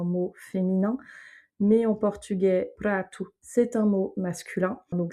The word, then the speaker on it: prato: Donc nous assiette en français c'est un mot féminin mais en portugais pratou c'est un mot masculin. Donc s'il est au singulier on dit pratou et s'il est au pluriel pratouche. Mais en tout cas la prononciation du ha ne change pas.